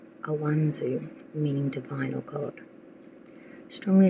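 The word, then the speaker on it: Ansuz: The first ruin that you got for October is pronounced Awanzu, meaning divine or God.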